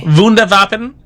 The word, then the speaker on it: Wunderwaffe: Die Glock, the Nazi bell, was a purported top secret scientific technological device, wonder weapon, or I believe it's pronounced Wunderwaffen. Yep. Yep, you're right. Wunderwaffe.